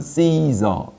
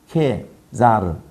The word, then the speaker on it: Caesar: 케사르가 영어식으로 발음한 게 C-E-S-E-S-A-R 영어식으로 발음하면 Caesar 이러고 그대로 발음하면 C가 K로 발음되니까 케자르 케자르 똑같은 거거든요.